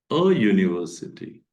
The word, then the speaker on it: university: It Be e or let it be U you have to pronounce u sound so here general rule